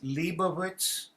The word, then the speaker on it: Leibovitz: The correct pronouncing is Leibovitz. Is that right? Leibovitz. Yes, Right. Leibovitz.